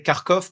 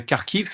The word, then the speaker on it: Kharkiv: Avant, on disait Kharkov parce qu'on avait l'habitude de prendre la prononciation des Russes. Mais en ukrainien, on dit bien Kharkiv et avant, on disait Kiev.